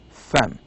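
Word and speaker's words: فم: It says no, it's not eyebrow, it is mouth, and the pronunciation is fem.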